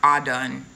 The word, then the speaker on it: Adon: n it's actually pronounced a done all done like almost like all done but it's it's pronounced